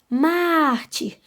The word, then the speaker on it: mártir: Então, a vogal aí, sempre a vogal que é acentuada, né, gente? Vocês já sabem disso, a consoante nunca é acentuada. Então, nós vamos acentuar a vogal dessa sílaba aí, né? Que é o A. Mártir. Então, é som aberto, né? Então, é acento agudo.